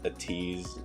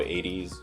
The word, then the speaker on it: ATEEZ: than um i'm not going to say as busy as a tease or 80s i'm sorry if 80s 80s fans um that's fine because like a lot a lot of the 80s fans also pronounce it as a tease because i mean you know um mostly it comes from like american or international viewers who can't read uh the hunger so yeah and